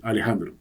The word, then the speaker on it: Alejandro: chistes con mis hermanos la pronunciación puede ser más parecido a una e entonces puede ser en lugar de eh Alejandro podría fíjense la la segunda vocal de Alejandro Alejandro puede ser más una que en inglés y en